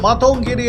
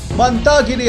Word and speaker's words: মাতঙ্গিনী: সময় স্বাধীনতায় সংগ্রামী শহীদ মাতঙ্গিনী হাজরার নাম ভুল উচ্চারণ করে মান্তাগিরি হাজরা বলায় তীব্র কষোপ ছড়ালো বাঙালি